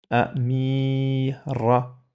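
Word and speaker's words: أميرة: Amira, une princesse. Amir, Amira. On entend A.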